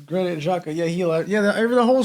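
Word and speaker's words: Xhaka: see Saka remember the player from Switzerland granite Jaa okay Jaa I I pronounce Jaca it's gr Jaca yeah he yeah the whole Squad that won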